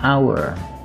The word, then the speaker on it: hour: sebuah penghargaan kemudian an hour 1 jam di sini kata owner dan kata hour dibunyikan seperti huruf o atau a tidak diucapkan huruf H kata-kata on atau jika